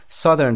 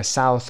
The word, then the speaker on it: Southern: Southern تلفظ میشه. Southern نخونین.